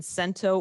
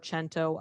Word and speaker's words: cento: So there's cut up, erasure, blackout, freeform excerpting and rewriting, and then cento or cento. I've heard it pronounced both ways. So I think it's kind of up to the speaker.